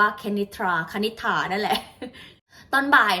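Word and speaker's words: Kenitra: ยัง ไง นะ คะ ก็ จะ เป็น k e n i t r a นะ คะ ก็ คือ กุ้ง ก็ อ่าน ว่า เค นิทรา ขนิษฐา นั่น แหละ ตอน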